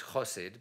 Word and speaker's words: Chosid: Today's lecture is the Professor Bernard Chosid Memorial Fellowship, and actually it's Chosid, but because of the hidden German standard, it's pronounced Chosid now.